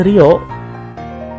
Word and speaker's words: Leo: Leo Geki Ranger, gue taunya bukan Leo sih, Rio. Oh, nama aslinya Leo. Tapi gue, oh nama ini ya, nama tulisannya itu Leo. Cuman karena orang Jepang L itu suka rada susah, jadi dibacanya itu biasanya Rio.